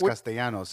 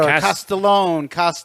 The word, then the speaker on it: Castellanos: Yeah, I would get a Castellone, Even I would spell his name wrong what? Like, sometimes. how are you gonna get Castellone out of Castellanos?